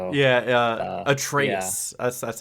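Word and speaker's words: Atreus: Yeah, I was going to say I'm sure a lot of the thoughts and opinions are of uh Atrius. So yeah, Atraus. That's that's how it's pronounced.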